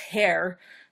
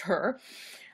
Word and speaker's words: Herr: I thought it was pronounced Herr, like Mr. in German, but no, it's pronounced Herr.